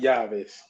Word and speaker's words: llaves: double L yeah, is just a Y sound. like So like llaves.